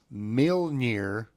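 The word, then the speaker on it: Mjölnir: Mjolnir. There's 1 point. If you can spell it correct, I'll give you 2 points.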